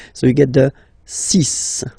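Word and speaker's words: six: Then be careful here, because even if it's ending with this X, well, you'll have to pronounce it like S, okay? So you get the 6 pronunciation.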